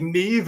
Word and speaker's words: Niamh: Like Neve is Niamh. I'm like, where are you getting the V?